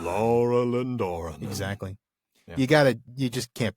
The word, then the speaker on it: Laurelin Doranan: I was going to say that's actually the easy way to remember how to pronounce it, is just to say it like Treebeard. Laurelin Doranan. Laurelin Doranan. Laurelin Doranan.